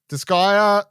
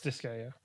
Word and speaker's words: Disgaea: Disgaea 7, Vows of the Virtuous.